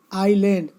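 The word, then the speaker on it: island: आइलैंड, इसमें S silent है।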